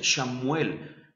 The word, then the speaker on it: Samuel: Y debemos saber que, bueno, en hebreo no había vocales y la S y la H están emparentadas, y aquí tenemos Shem en la primera parte. Algunos de hecho así lo pronuncian, Shamuel.